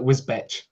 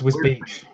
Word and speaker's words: Wisbech: Yeah, everyone tries to call it Whizbech. Oh, I thought Whizbeck, I assumed. Whizbeck, no, it's Whiz Beach.